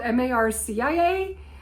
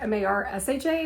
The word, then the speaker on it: Marcia: Her name is Marca, and it's it's spelled M A R CI A. So I she showed me her business card and I was like, Marcia, I'm used to Marsha being spelled like M A R S H A I believe. So anyway, um she goes, yeah, like Marsha, Marsha, Marsha, all you Brady Bunch fans out there.